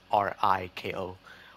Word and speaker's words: Riko: And the characters, Rico, or Rico, yeah, I think that's how you pronounce her name. It's just Riko.